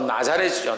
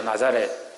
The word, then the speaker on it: 나사렛: 이 마태복음 2장 23절에 있는 이 나사렛은 이제 발음상으로 나자렛이죠. 나자렛.